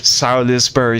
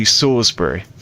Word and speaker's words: Salisbury: Sisbury steak is how the Americans say it, but it's actually Sorsbury.